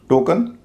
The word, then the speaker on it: token: TOKEN, टोकन, ये भी वैसा ही शब्द है जैसा कि ओपन है। शुरुआत में जो ओ है उसका उच्चारण ओ हो रहा है और बाद के हिस्से का अ हो रहा है।